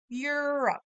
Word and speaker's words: Europe: South America South America Europe Europe some people say Europe and that's okay but most of the time in the United States we pronounce this Europe Europe like the E is silent Europe you try great job